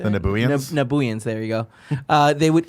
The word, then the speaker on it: Nabooians: Real quick, Tyler Newgroove in the chat says when they fought the Nubians, is that the right way to say The it? Nabooians? Nabooians, there you go.